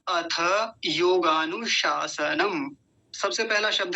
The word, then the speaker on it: योगानुशासनम: पहला शलजम वाला जो होता है तालव्य शकार जिसको बोलते हैं, और दूसरा दंतीय सकार जिसको सांप वाला स होता है, सपेरा वाला स, वो वाला। तो दोनों का उच्चारण अलग अलग पता होना चाहिए हमको। योगानुशासनम ऐसा बोलेंगे। तो पहला सूत्र हमने देख लिया क्या है?